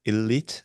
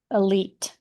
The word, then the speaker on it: elite: can you pronounce the word elite one more time? Elite, Okay, elite. elite. Okay. So in Korea, I think we pronounce it like elite. Mm-mm. So yeah, it sounds completely different.